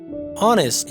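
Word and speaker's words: honest: ऑनेस्ट, यहाँ पर एच जो है ये साइलेंट है, यानी साख्त हुरूफ है।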